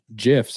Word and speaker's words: GIFs: You get, for post types, you get product pictures, collages, and GIFs, or GIFs, as I've been told it's properly pronounced, which I think is crazy. It's not peanut butter.